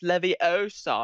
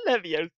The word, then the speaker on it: Leviosa: Depp a furry in a wizard that doesn't know it's pronounced Leviosa I'm not Livia ah talk to the nice alien from red vs.